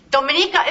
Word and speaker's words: Dominica: that's a Hispanic Island Dominica is English speak he couldn't even pronounce the goddamn name of the island it's Dominica it's it's Dominica there I go anyway